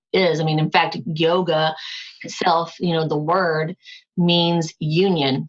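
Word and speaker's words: योग: I mean, in fact, yoga itself, the word means union. So, yog in Sanskrit, if we spell it the way the Sanskrit translates, it's Y-O-G with a little dot that says, we say yog.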